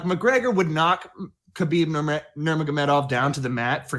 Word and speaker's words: Nurmagomedov: First of all, I'm very impressed with the repeated correct pronunciation of Nurmagomedov. Khabib Nurmagomedov. Khabib Nurmagomedov.